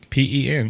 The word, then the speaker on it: pen: P-E-N, yeah, pen. Pan. Yeah, I know. A lot of Southerners pronounce it P-I-N.